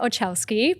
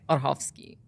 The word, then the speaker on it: Orchowski: How do you say it? Orchowski. Because you are Polish.